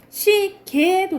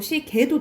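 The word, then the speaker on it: 시계: 그리고 얘랑 얘는 애로도 발음한다 라는 거. 이건 허용해준다 이 소리예요. 그러니까는 시개도 되고 시개도 된다 라는 거지. 지해도 되고 지해도 된다 이 말이야.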